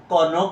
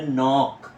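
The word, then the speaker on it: knock: হবে না এটা হবে নক কে এন নক নক অর্থ হল আঘাত করা অথবা ধাক্কা দেওয়া কে এন সি কে কনক হবে না আমি আবারও বলছি এটা বাদ এটা হবে নক নক মানে উচ্চারণটা উজ্য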